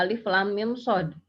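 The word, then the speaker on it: الٓمٓصٓ: Jadi cara membacanya alif lam mim shad. Ya. Nah, di sini antara mim, saya ada mim mati ketemu dengan shad jangan digunakan ya. Jadi jangan membacanya alif lam mim shad gitu ya.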